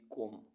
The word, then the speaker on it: comb: सबसे पहले उन वर्ड्स की जिनमें अल्फ़ाबेट बी साइलेंट रहता है। COMB कॉम, कॉम मीन्स कंघी।